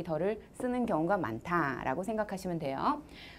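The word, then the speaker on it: 地: 이 땅지자 더를 예전에는 D라고 읽었죠. 띠. 네, 땅지자 띠. 근데 요즘은 띠라고 읽는 사람들은 촌스럽다고 여깁니다. 그냥 다 더라고 합니다.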